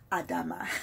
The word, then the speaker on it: Adama: hello everybody hello everybody this is adama or as many have corrected me adama that's the correct way to say it um i'm here excited